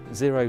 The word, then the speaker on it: Xero: We've got Gary Turner of Xero, how he took a business from zero, zero though it's spelled Xero, how he took it to 25 million and growing.